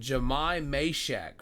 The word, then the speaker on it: Jahmai Mashack: Um, and of course I'm talking about the guy known as we got the pronunciation here so there's no confusion. Jamai Mhack from the University of Tennessee.